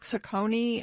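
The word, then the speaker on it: Saccone: of candidates I mean Rick saucony I think is the way we determined you pronounce his name perhaps he he wasn't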